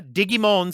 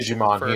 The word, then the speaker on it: Digimon: Yeah, Digimon Survive. That's, of course, the Japanese pronunciation. Digimon here. For all of you English pronunciation fans out there, yeah, Digimon.